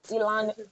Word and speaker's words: Elan: She is the CEO of Elan Clothiers. Did I mention that? Did I pronounce that right? Yeah, Elon Yes.